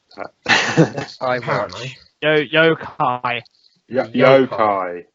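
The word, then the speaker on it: Yo-kai: yo watch next which is um I can't pronounce that yo yoai yoai not y not Yoki yoai it made me feel YY shut up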